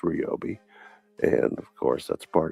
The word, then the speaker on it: Ryobi: It's pronounced Ryobi.